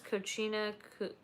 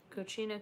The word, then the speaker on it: cocina: uh pacific or cochina i never know how to pronounce that correctly it's kochina kochina cucamonga we'll just say